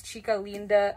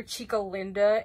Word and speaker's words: Chica Linda: by this so um the proper way that you say her name is chika Linda I'm Hispanic I'm Mexican so I know how to say it but in the show it's so annoying because they call her Chico Linda and that's like so